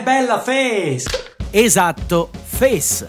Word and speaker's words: fes: molto bella è bella Face Esatto Face è arrivato il momento di fare luce su questa misteriosa parola tipicamente Bresciana Innanzitutto Come si pronuncia face face Mi raccomando e stretta G Bell Come si